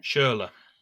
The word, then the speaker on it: Schürrle: Is that how you pronounce it, Dave? Schürrle.